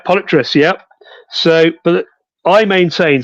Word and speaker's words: Polypterus: Okay, so most people call it Polypterus, because if you look at it, it looks like polyp and terrace. That's how I pronounce it. Polypterus. Polypterus.